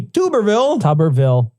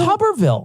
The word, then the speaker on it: Tuberville: Senator Tommy Tuberville. It's not Tuberville. Tuberville would be too cool. That would be a potato. Is it man. really Tuberville? It's Tuberville.